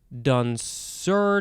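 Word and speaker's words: danseur: the first one is dansur i don't know i don't know how we want to say this you could say don sir dansur how how appropriate dansur it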